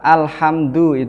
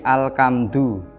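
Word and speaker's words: الحمد لله: makna dari lafadz tersebut contohnya lafadz Alhamdulillah tukan menggunakan hak tidak boleh diganti alkam dua maka itu bisa Fateh hanya itu lafadz dalam Fatiha tersebut bisa maknanya berubah tentunya dikecualikan kecuali bawaan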